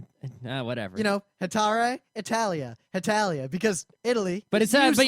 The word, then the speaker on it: Hetalia: l i a okay cuz the way you say it it just sounds like you're saying Italia Italia all right whatever you know hatar Italia Italia because Italy but